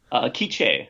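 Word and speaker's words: K'iche': Is it pronounced quiche or how do you pronounce it? Kiche, Maya Kiche.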